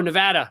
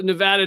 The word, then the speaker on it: Nevada: Nevada? Yeah. No, Nevada. Shit. God damn it. I just got to remember, when you show up in Las Vegas, you go, ah. You don't go, ah.